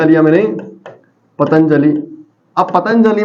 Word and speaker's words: पतंजलि: में बताओ की यह जो अनुस्वार है पतंजलि का उच्चारण को तो इस अनुस्वार के बाद कौन ए रहा है जे और जे के परिवार का पांच वाक्य आपका नाम तो